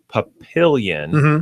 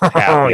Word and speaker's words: Papillon: Some people would pronounce it as Papillon, which would be incorrect. You're supposed to be, the French version of it, and it would be pronounced Papillon.